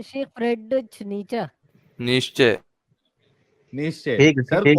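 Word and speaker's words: Nietzsche: एक फ्रेडरिक, ये क्या है, इसको प्रोनाउंस कैसा निश्चय करते हैं? शेख फ्रेडरिच नीचा।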